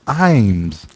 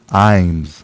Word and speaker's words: Iams: after upset so oh someone said here it's pronounced Iams here where um this dog food brand Imes founded by Paul F ions is pronounced I Dash m-z Iams okay who says this this is Cajun you